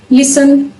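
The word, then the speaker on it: listen: जब दी जाता है कोई शब्द एस टी ए एन पे खत्म हो रहा है तो उसमें जो दी होगा वो साइलेंट होगा पर एग्जांपल लिसन लिसन आई अगर कोई शब्द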